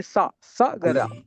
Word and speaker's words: Sagara: No, Dirgham, Prabhu. Only Sagara. Only single A.